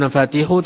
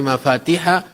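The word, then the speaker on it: مفاتيح: Tadi saya keliru membacanya inna minannas mafatiha lil khairi. Ya bukan nafatihu tetapi mafatihah lil khairi.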